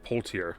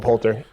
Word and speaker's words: Poulter: I think I've seen a trailer for this because Will Poulter. Yeah. Is that how you say his name? Poulter. Will Poulter.